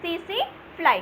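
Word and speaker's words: tsetse: जो टी होता है वो साइलेंट होता है, इसको पढ़ते हैं सी फ्लाई।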